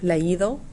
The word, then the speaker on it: leído: So if you noticed, we have an accent on the I, leído, read, and traído, brought. So what I want you